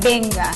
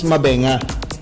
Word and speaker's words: Mbenga: Okay so mbenga okay sabi nila hindi mbenga benga benga lang daw benga yung iba raw mbenga Hindi kasi Actually ang ang correct pronunciation nian is mbenga kasi He's from He's from Nigeria ' ba yun daw